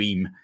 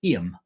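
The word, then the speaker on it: Eyam: with Johnny no chance IM is spelled e y m most people from outside of the area call it IM and then they get shot down by anybody from that little bit of darish here who says it's not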